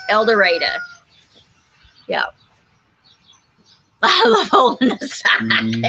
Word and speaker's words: El Dorado: and yeah and eureka el dorado always gets el dorado elder right yeah elder adolescent here it's eldoreda yep i love holding